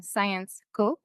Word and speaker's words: Syensqo: And we have a really strong focus on science, hence the name Syensqo, in case you're wondering how to pronounce it.